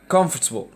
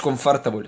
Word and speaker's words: comfortable: comfortable دي ما اسمهاش comfortable، اسمها comfortable comfortable comfortable comfortable comfortable.